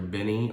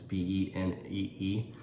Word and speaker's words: Benee: It's either Benny or Benee. It's Benee.